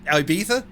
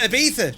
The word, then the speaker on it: Ibiza: out of fashion ibiza over here we pronounce it ibiza or we just call it ibiza shout i mean could